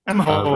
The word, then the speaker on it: Emaho: Oh, Emaho. Read as two syllables, please.